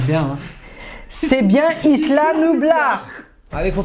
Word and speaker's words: Isla Nublar: C'est bien Isla Nublar. Ah, il faut prononcer C'était bien Isla Nublar.